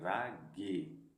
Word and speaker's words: रागी: बता रहा है कि इसको अगर आप लोग नहीं पढ़ पाए क लोग राजी पढ़ेंगे तो ऐसा नहीं है इसका उच्चारण ये निकल के आएगा रागी राग य ठीक ये चीज आप